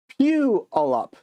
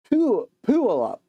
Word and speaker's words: Puyallup: Really, it's pronounced Puyallup. Puyallup.